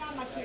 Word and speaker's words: Amakiri: ¿Dónde está la fuerza en Amakiri? En la primera. Amakiri. Cumple. La segunda sílaba es abierta. Por lo tanto, la fuerza debe ir en la primera. Y se cumple.